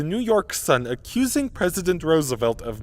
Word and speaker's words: Roosevelt: this wrong especially in the United Kingdom it's pronounced Roosevelt although in a bizarre foreshadowing of the Jif